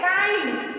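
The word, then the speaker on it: kind: Rule 7 यदि आई के बाद एनडी एलडी आए तो आई के बाद एनडी और एलडी आए तो आई का उच्चारण आई बोलते हैं।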